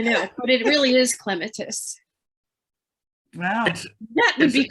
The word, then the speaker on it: clematis: clematis plant was pronounced clematis because I was listening to the British pronounced plants. it is pronounced clematis because it's Greek in origin, and in Greek, the antepenultimate syllable always takes the stress, as you probably remember.